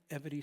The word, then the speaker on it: Evity: Evity, was chosen because the word Evity sounds like equity. It also rhymes with longevity. And my friends who know me when I'm not talking about such serious things say it rhymes with levity, because I think that's